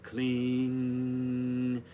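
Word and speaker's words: kleem: how it's spelled k-l-i-n-g but k-l-e-e-m is the same vibration write it 108 times say clean did it 108 times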